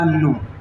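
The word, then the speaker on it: know: वाली बात है कि हमने प्रोनाउंसिएशन नो रखा इसलिए हमें ये लिखना पड़ा हमने के तो प्रोनाउंस किया ही नहीं आगे भविष्य में जैसे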